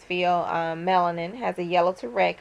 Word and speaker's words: pheomelanin: It depends on how you say it, but it's pheomelanin, has a yellow to